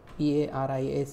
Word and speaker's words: Paris: P-A-R-I-S is pronounced like Paris. A is pronounced like A and S is silent.